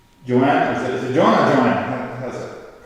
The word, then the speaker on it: Joanna: Is it Joanna or Joanna? How's that pronounced?